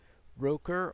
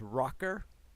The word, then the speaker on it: Roker: that was Roker well with name like Roker yeah it supposed Roker or if you mispronounced it I guess it come out as rocker yeah so that's why